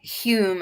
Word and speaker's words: Hume: someone done this uh Hume I believe Daniel's pronounced you but spelled home yeah yeah that's that's